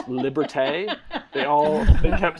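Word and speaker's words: liberté: it's uh when uh ha heg uh says Liberty uh and then and then the the joke is it's pronounced liberte well we pulled that audio and we reused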